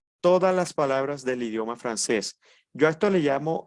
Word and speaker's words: français: vemos todas las reglas la s final no se pronuncia la a con la i se pronuncia e y la cc como una s entonces pronunciamos francés vamos aquí a ver un